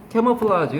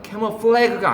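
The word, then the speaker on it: camouflage: 변장 이런 거 아니야 캐머플라지 이건 발음도 그렇지만 프랑스 말이 온 말이에요 지금 얘가 얘를 말하는 거죠 바로이 플라지 캐모 플래그가 아니라고 고해야 보통 뭐죠 저런다 바름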